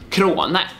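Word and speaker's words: Crone: Efter Viktors efternamn är danskt och uttalas Krone.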